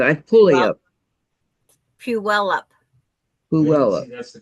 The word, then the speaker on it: Puyallup: The one that's Pullayup or something. Palula, Palu, Pull you up. It's like pull you up. yeah, but I pull it up. Puyallup. Puella. That's the correct pronunciation. Yeah. Yeah. Puyallup.